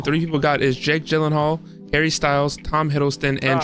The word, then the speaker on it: Gyllenhaal: Gillhal. Is it Is it jockey golional? Yeah. Yeah. Jockey. Exactly. Exactly. I pronounced that. The correct answer which only three people got is Jake Gyllenhaal, Harry Styles, Tom Hiddston, and Travis Kelce.